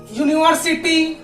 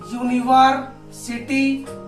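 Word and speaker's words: university: और यूनिवर्सिटी, यूनिवर्सिटी, यहाँ भी यू, या का उच्चारण हो रहा है यू, है ना, तो यहाँ भी ए यूनिवर्सिटी।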